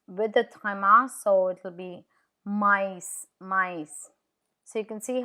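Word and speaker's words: maïs: Can you see how E is pronounced separate to O? No, which is Christmas. Noel I with is mice.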